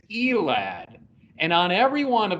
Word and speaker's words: Elad: safety jet and jet pronounce your last name for us elan it is elad and on every one